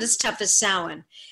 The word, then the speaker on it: Samhain: because the actor pronounced Samhain correctly. Love it. So, like, every other one says Sam Hain, as if he's, like, this guy called Sam Hain, and it really, really annoys me.